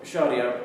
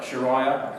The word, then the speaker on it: sharia: the media a lot sometimes it's mispronounced like sharaya called the head of the edl which is promoted by inance but uh sharia simply means in the